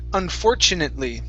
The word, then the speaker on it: unfortunately: Okay, right here, unfortunately. Okay, so our stress is right here on 4.